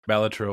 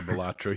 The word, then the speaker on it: Balatro: Well, the designer of Balatro won't tell us what it's supposed to be pronounced as. Balatro or Balatro. He accepts either one.